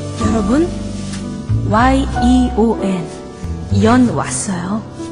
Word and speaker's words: 연: 여러분, Y-E-O-N 연 왔어요. 발음을 잘 하셔야 됩니다. 두음법칙 쓴다고 니은 붙이면 큰일 나요. 그냥 부드럽게 연.